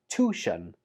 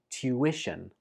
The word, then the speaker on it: tuition: Some students pronounce this as tuition, but that's incorrect. Instead, say it like tuition.